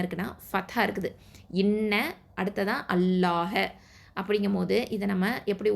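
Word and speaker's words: الله: அப்போது அல்லாஹ் அப்படிங்கிற வார்த்தையில் உள்ள லாமுக்கு முன்னாடி எழுத்து ஃபத்தா இல்லைனா தொம்மா இருந்துச்சு அப்படின்னு சொன்னால், அல்லாஹ் அப்படிங்கிற வார்த்தையில் உள்ள லாமை தான் தஃப்ஹீமா, அதாவது வல்லினமாக உச்சரிக்கணும்.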